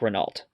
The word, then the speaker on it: Renault: Think of it as like a O at the end of the word there.